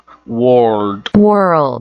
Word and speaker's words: world: World. Façam, treinem, ouçam várias vezes e pronunciem várias vezes.